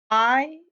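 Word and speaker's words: hay: myself right here that this is pronounced like the letter I or like your eye in your head, okay? Because you're going to want to say that it looks like the thing that horses eat, but that's not how you pronounce it in Spanish.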